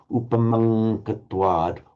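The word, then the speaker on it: upamaṃ katvā: The same phenomenon occurs between the Anuswara and the following K or G sound, Upamankatwad, automatically takes the position of the following, Upamankatwa.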